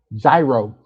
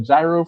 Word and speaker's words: gyro: Yeah, the Y is gyro. The G is silent. The G is silent basically.